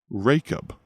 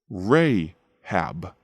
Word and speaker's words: Rahab: Rachab, or as the Old Testament pronounces it, Rahab.